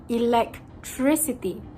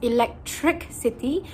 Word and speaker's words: electricity: How they would mispronounce this word is by adding the consonant k in between the syllable tr and city, making them enunciate the word as electric city when it is supposed to be pronounced as electricity. Electricity. There isn't supposed to be any transition. It was supposed to be a smooth sailing electricity and not electric city.